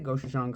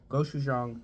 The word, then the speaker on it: gochujang: Did I say Gouang Spam? Did I pronounce the A that way? Because I said Gouang. Gou Jang spam.